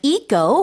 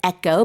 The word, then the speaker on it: eco: We have eco, or you can also pronounce it echo. Both pronunciations are acceptable.